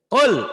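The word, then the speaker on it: قل: Jadi jangan sekali-kali dibaca kul. Jangan. Kul. Biasanya identik dengan latihannya disentak. Tapi itu hanya untuk latihan. Gak boleh bacanya disentak.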